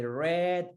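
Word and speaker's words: read: se escribe exactamente igual pero lo vamos a pronunciar como el color aire y red si red ip red de red wifi red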